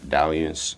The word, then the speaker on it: Dalliance: my name is Diance on every platform. It might be Dian on some platforms, but it's spelled like Alliance. Um, so if you can spell Alliance, just put it together.